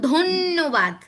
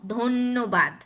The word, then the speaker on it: ধন্যবাদ: মাঝে বা শেষে থাকলে ওই যে আগের মতোই উচ্চারণ হয় দ্বিত্ব উচ্চারণ, মানে যেই বর্ণের সাথে যুক্ত আছে সেই বর্ণের ডাবল উচ্চারণ হবে। দুইবার উচ্চারণ হ্যাঁ, যেমন ধন্যবাদ, ন ন, ধন্যবাদ।